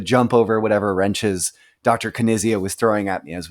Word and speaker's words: Knizia: Brandon, do you realize that you're pronouncing his name incorrectly, Knizia.